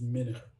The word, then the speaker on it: Meno: the real pronunciation is minute i cannot stand being called a small fish i i get it